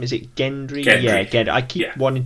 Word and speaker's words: Gendry: his name is it Gendry yeah again I keep wanting to say Gendry and I've written it down no it's Gendry but I want to say gently but I know it's Gendry and so apologies in